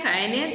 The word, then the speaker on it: Jaene: Así se pronuncia, Jaene, Delphi.